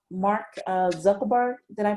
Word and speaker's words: Zuckerberg: Mark Zuckerberg. Did I pronounce that correctly? The Facebook guy. Yeah, the Facebook guy. Zuckerberg.